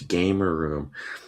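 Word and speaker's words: Gamerroom: Oh, it's gamer room. Well, when I just read it, there's only one R.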